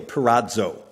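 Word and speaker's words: πειράζω: word here translated tempted is the word that is spelled this way in English it's pirazzo p-e-i-r-a-zio perazo it means this to test to scrutinize or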